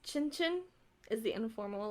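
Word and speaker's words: cin cin: being punked but it's supposed to be pronounced Chinchin is the informal like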